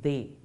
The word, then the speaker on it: des: But les, de and les will combine and give us des, pronounced as they.